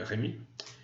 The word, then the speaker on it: Rémi: Je le prononce en français parce que c'est un français qui parle, donc il s'appelle Rémi.